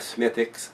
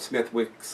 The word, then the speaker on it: Smithwick's: of the beers, like Smithwick's. I've been calling it Smithwick's. The W's, from what I hear, is silent on a lot of stuff over there.